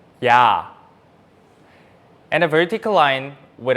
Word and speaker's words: ㅑ: And if we add another stick on the right side of the vertical line, it's ya, ya.